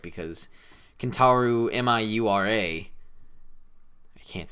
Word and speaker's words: Miura: you say that name m-i-u-r-a miura so i was right awesome but i kept pronouncing it like for the video i'd be like mia that yeah i had